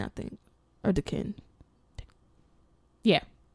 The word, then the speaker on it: Duquesne: between Carnegie Mellon and Duquesne, I think. Or Duquesne. Yeah. The S throws me off. Yeah. Why? I think the S is silent, though.